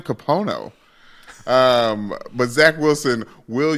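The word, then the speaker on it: Kapono: know how to say names Mike could you pronounce this for me his exact middle name I was right about Zachary k-a-p-o-n-o capono capono Wilson we should have known he had that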